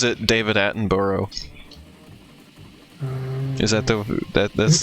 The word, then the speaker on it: Attenborough: just it's just bruh if you have quotes Borough on the end of a name you just pass it bro yeah here it's borough like we have like there's like cities with it at the end of them and it's always borough yeah I'm pronouncing your